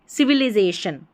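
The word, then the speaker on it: civilization: अब यहाँ पर एक चीज़ है, सिविलाइजेशन, देखिए LI को या तो ली पढ़ेंगे या लाई पढ़ेंगे, ठीक है। अब यहाँ पर ली लिखा है, अब यहाँ पर हमको लाई करके प्रोनाउंस करना है, तभी करेक्ट उच्चारण आएगा, तो इसको भी आप सही कर लें।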